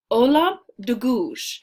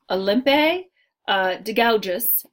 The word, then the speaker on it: Olympe de Gouges: shut her up so here is how we're gonna say her name yes hola de Guiche it looks like Olympe de gouges not how you say it hola de Guiche okay